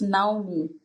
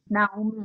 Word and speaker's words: Naume: It's Naume, actually, Naume, but I'm used to people just having an interpretation, so I'm used to it. But it's Naume.